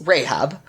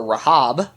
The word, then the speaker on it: Rahab: It's Rahab. Okay. It's literally the closest to the Hebrew pronunciation. I don't understand why everyone in here calls her Rahab.